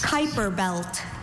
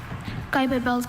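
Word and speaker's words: Kuiper belt: Kyper belt. Kyper belt.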